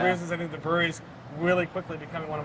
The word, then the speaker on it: Bruery: And we're here at the Brewery, and that's spelled B-R-U-E-R-Y, which is probably, I